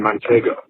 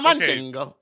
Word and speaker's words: Manchego: You know what's so funny is you were saying it wrong. Manchego. A manchingo. No second N.